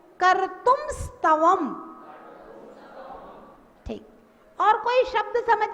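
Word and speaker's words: कर्तुं स्तवम्: अब देखिए, का है, फिर रा है, फिर ता है, फिर ऊ है, फिर माँ है, आधा माँ है और आधा सा है, तो हम इनको मिला के बोले कर्तुम स्तवम।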